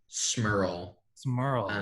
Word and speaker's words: Smiirl: Smiirl. I always misspell it as I think it's IIRL.